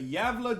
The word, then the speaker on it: Gävle: for me please that it's like a y sound the g javelin nordic languages uh would be very hard for me to learn diablo okay all right the yavla goat the apple goat